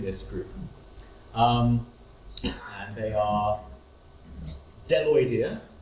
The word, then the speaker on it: Bdelloidea: And they are bdelloidea, the B is silent here, it's just bdelloidea, monogononta, acanthocephala, and Cysonidea.